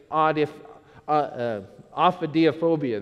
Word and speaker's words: ophidiophobia: The fear of snakes, it's actually pronounced ophidiophobia.